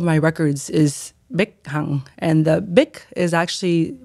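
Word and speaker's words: Bich: my all of my records is and the bic is actually pronounced as such yeah but whenever it's spelled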